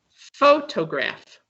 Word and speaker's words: photograph: do you like best photograph can i answer yes please the first word yes photograph the emphasis is on the first number four he was